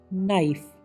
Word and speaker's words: knife: KNIFE, नाइफ, चाकू।